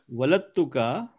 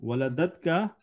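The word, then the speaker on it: وَلَدَتْكَ: Waladatka. Sorry, I was saying it wrong. Waladatka.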